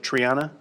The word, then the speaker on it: Triana: the existing triana park am i pronouncing that right is it triana okay triana park specific area plan